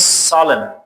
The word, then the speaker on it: solemn: So the next one is solemn. It is N is silent.